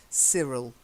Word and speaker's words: Cyril: silent E then Cyril I know it's why but we say see Cyril Cyril yes Cyril but